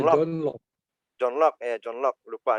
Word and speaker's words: John Locke: John Locke, dibacanya John Locke.